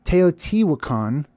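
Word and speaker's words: Teotihuacan: the middle this is the teot wakon as it's commonly pronounced I'm going to take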